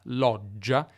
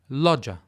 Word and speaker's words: loggia: The g, which in Italian is pronounced double or long, loggia, is not pronounced in English, loggia.